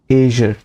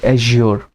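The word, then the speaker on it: azure: एज्योर और एजर mostly देखो UK pronounce करते हैं इसको एजर, और यूएस वाले एज्योर।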